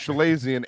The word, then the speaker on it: chalazion: It's pronounced Chalazion, and I do want to say real quick because after we did this last Everyone week, here Big is Trox.